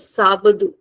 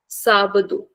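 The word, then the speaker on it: sábado: So Saturday is sabadu sabadu and Sunday is the mingo.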